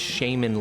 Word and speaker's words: shaman: his physique to his shaman lifestyle tenets. If it's pronounced shaman, then tell Campbell that, not me.